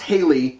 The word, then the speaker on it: Haley: Pronounced Haley, though, I know, it's weird.